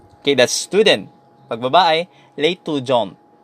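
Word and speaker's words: l'étudiante: Pag babae, l'étudiant. So, dito, nabibigkas mo na yung letter T pag babae.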